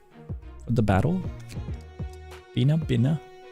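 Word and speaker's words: Binah: How do you pronounce it? Benna. The battle. Bina. Bina.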